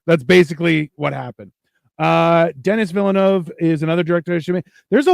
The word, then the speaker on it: Villeneuve: Marco, pronounce that name for me. What? Villanueva. Is that how you say it? Villeneuve.